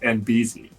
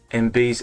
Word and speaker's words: Enby: I tell you that my name is pronounced NB NB oh so I'm so